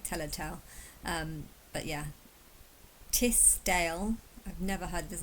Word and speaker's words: Tisdale: Oh, Tisdale. I did spell it wrong. Tisdale. Dale kind of makes sense because it's like Elladale, which is where I was born. And it's like Telltale.